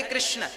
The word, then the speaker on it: कृष्ण: हां वेद मंत्र है ये शुद्ध उच्चारण इसका क्या है हरे राम हरे राम राम राम हरे हरे हरे कृष्ण हरे कृष्ण कृष्ण कृष्ण हरे हरे यह वेद मंत्र बोल